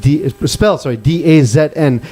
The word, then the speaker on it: DAZN: Pronounced DAZN.